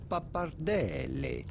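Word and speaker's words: pappardelle: go about pronouncing it a little background italian pronunciation papardelli yes that that is what i would like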